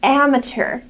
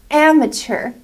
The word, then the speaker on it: amateur: of new words and the first word is amateur amateur the pronunciation ER mature amateur amateur amateur which means